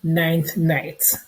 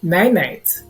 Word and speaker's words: ninth night: And we have, of course, what we call ninth night, or some people mispronounce it and call it nine night.